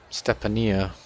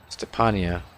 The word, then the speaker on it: Stepania: okay so we have stepania Stefania keep forgetting how they say his name the Pena there we go passes it into Carter it's the Pena like uh pan Peter Pan Claxton Miller pulls it down